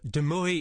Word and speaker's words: de Mooi: how you like um deoi is the correct pronunciation but deui is perfectly fine I don't mind um